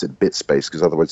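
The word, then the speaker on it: biit.space: i i t dot space i i just pronounce it bit space because otherwise it's going to be b space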